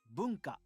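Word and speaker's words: 文化: This is how you say culture. Boonka. Bonka.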